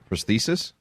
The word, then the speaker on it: prosthesis: Prosthesis?